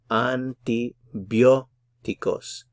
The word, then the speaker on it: antibióticos: Notice that this syllable here has the stress. It has the accent mark. So antibióticos.